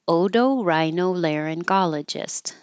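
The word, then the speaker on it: otorhinolaryngologist: the whole long name Odo rhinologist so each part Odo the t is a d rhinologist Odo Rhino laryngologist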